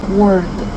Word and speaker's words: word: 뜻을 가진 우드는가 되고요 단어의 뜻을 가진 드는 word word 이렇게 됩니다 듣기만 하셔도 차이점을 확실히 아시겠죠 여기서 질문은 안 주셨지만 비슷한 발음이 나는 단어가 하나가 더 있어요 단어의 뜻을